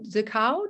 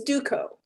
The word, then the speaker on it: Duco: Susan DeCow. Do I say it correctly? DeCow? It's Duco. It's Duco. Duco.